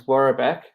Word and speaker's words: Worobec: So my last name is Warabek, which is spelled Worobec, and Wazabek is just a weird version of it.